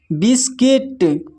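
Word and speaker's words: biscuit: फिर है यहाँ पर गिल्ट, फिर है गार्ड, फिर है गेस्ट, फिर नेक्स्ट है बिस्किट, फिर है बिल्डिंग, फिर नेक्स्ट है सर्किट।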